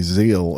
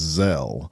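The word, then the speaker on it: Zelle: pronunciation police I say I used to say Zeal and then somebody told me it was zel oh Lord but the payment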